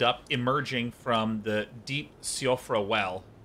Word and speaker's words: Siofra: I actually wound up emerging from the deep Siofra well. Oh, I thought this was called Sofria. I've been mispronouncing it. Siofra well.